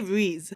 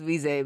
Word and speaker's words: Reze: I know officially it's probably Reze.